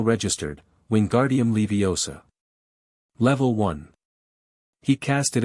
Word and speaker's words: Wingardium Leviosa: "The swish and flick, my dears, and remember the precise pronunciation. Wingardium Leviosa. Got a nice and long O, nice and round."